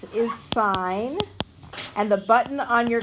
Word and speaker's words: sine: and t s is sign and the button on your calculator is si n which is pronounced sign knots in C is